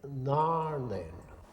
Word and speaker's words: Narnain: a garlic speaker but if any r a i n is one word it must be pronounced in garlic gnarline well the first part